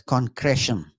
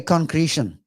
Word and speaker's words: concretion: Those in the land of the free would pronounce this as concretion. But we are flat-footed British types. So we say concretion.